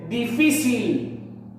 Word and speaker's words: difícil: La siguiente dice difícil. Difícil. Muy bien, profesor. La sílaba fi, pues es la que tiene la mayor fuerza de voz.